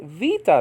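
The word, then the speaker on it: βήτα: and a b okay the beta according to biblical Greek but is called Vita now probably because it can make the V sound so this this Greek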